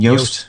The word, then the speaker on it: Yoast: I always forget how to pronounce his name. Yoast.